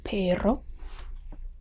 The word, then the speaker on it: perro: which means red and then there is the double r which is considered a different letter and is a long drawn out r basically it's just doubling